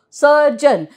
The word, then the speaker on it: surgeon: Surgeon. Now, see, G has got two sounds, right? What are they? J and G. So, surgeon, J. So, as in ginger.